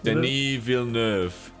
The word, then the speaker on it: Denis Villeneuve: Did I pronounce it? Denis? Denis Villeneuve.